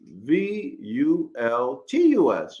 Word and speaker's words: vultus: L T V S versus V U L T U S. Y'all see it? And it's pronounced vultus.